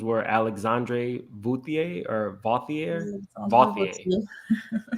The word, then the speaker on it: Vauthier: Vauthier. How do you pronounce that, Grace? Vauthier. Alexandre Vauthier. It's kind of like Jean-Paul Gaultier, Oh, okay.